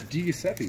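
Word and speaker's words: Di Giuseppe: Okay, pronounce that name. Phil. Nailed it! It's DiGiuseppe, man.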